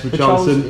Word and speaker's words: Richarlison: And then obviously Richarlison, is that how you say it? Yes, Richarlison.